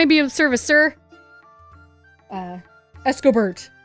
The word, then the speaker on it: Escobert: Escobert. By the way, it's spelled E-S-C-O-B-E-R-T. And so I look at it, I'm like, Escobar. Yeah, like that makes sense to me.